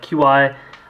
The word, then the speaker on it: Qi: We'll show you how that works with a variety of QI or Qi, I think it's pronounced, chargers.